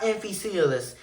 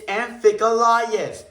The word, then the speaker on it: Amphicoelias: It's not Amphicoelius, it's Amphicoelius.